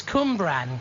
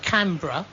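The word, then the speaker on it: Cwmbran: It's Cumbran. Cumbran, South Wales. Cumbran. Excuse me. Not Canberra.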